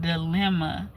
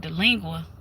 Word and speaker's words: Dilemma: that came out called Dilemma. And he, we was listening to the radio and these people, um, cuz we were on the phone, I think, and they, the man mispronounced it called it Delingua.